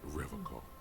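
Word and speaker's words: Revachol: He pronounces Revocol with a hard K.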